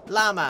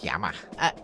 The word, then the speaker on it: Llama: Llama. It's Yama. It's what? My name. It has two L's in it. Where? At the front. You pronounce it like a Y.